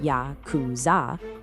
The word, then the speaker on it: Yakuza: The numbers 8, 9, and three, which are pronounced ya kuz zah, add up to 20.